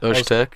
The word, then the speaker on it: Öztürk: Ozturk. Öztürk. Alim Öztürk. Is that how you say It's it? like a soft zzz. It's got the little thing on. Yeah. Zzz. Nice soft zh.